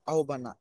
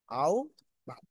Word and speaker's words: আহ্বান: আহ্বান করি, কিন্তু আহ্বান না, এটার উচ্চারণ কি? আও ভাব।